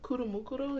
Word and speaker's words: Kuromukuro: Kuromukuro, yeah.